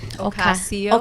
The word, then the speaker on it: Ocasio: Ocasio.